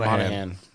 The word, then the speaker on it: Monaghan: Yeah, Cameron Monaghan. Yeah. The G is silent.